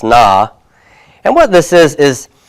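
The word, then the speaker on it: נא: a little particle that's going to be pronounced na and what this is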